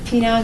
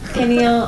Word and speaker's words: pineal: So, penile gland. Is that how you say that? Pineal. How do you say it? Pineal gland. Pineal gland. We've heard people in testimony say it's pineal, but we've heard penile.